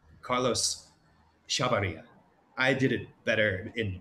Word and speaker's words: Chavarría: Carlos Chavarría.